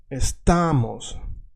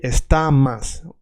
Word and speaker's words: estamos: And if you are Russian, the accent is here, estamos. We don't say estamas.